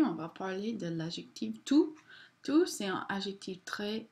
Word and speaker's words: tout: Alright, masculine singular tout. We do not pronounce the T.